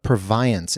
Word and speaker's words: Purviance: So, is you I heard you say Edna periance. Is that the way you pronounce it? So there's controversy about it. I will come down on the side of yes, that's the way you say her name. I think that's the most accepted.